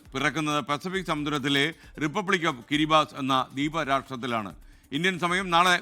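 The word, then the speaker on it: Kiribati: വർഷം പുതുവത്സരത്തെ വരവേൽക്കാൻ പോകുന്നത് കിരിബാത്തി എന്നാണ് എഴുതുന്നത് എങ്കിലും കിരിബാസ് എന്നാണ് ഉച്ചാരണം 33 ദ്വീപുകൾ ചേർന്നതാണ് റിപ്പബ്ലിക്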